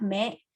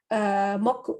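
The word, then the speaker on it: 目: Cara baca kunyominya atau dari Jepang sendirinya itu adalah me. Terus onyominya atau dari Tionghoa itu moku gitu.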